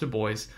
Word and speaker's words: Du Bois: Du Bois, it's pronounced Du Bois, and Booker T.